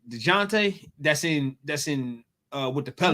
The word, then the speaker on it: Dejounte: DeJounte.